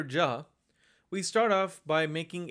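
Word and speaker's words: ज: just like with JA the letter Jah is also not aspirated so you use minimal force when you say it this is almost equivalent to the way we say the letter J in English j ja j ja the next letter is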